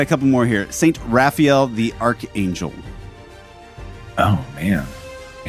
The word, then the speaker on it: Raphael: couple more here St Raphael the Archangel oh man a second born is named after him really uh yeah and actually I think I've heard people also pronounce it rayfiel M so what would